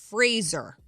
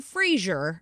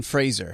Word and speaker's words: Fraser: jerk about it but it's Fraser Fraser not Brendan Frazier Brendan Fraser not Kelsey Grammer Frazier it's Brendan Fraser oh with the Adele